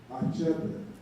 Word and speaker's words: Achebe: So they say Chinua Achebe. The Achebe, some people would have pronounced it as Achebe. It's not the CH. First you say A, and the CHE, Che, and the BE, Achebe.